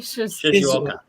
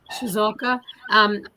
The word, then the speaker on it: Shizuoka: I mean the Shizuoka, pronounce that again for me. Shizuoka. Shizuoka.